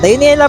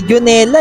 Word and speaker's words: Dionela: Paparating na si dionela dionela pala pronounce niyan Hindi jonela eh sa mga nagtatawag